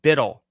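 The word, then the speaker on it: BUIDL: their CEO this is Black Rock USD it's pronounced bidle this is on the blockchain now you can't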